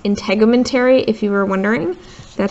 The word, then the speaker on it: integumentary: that are right here this one is pronounced integumentary if you were wondering